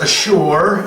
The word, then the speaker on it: Ashur: Assyria is pronounced Ashur, and it's a steppe, a second son of Shem, and eponymous.